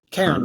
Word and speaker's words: Cairn: I don't know how you pronounce it. It's Do your best. Cairn? Cairn? Karen, yes.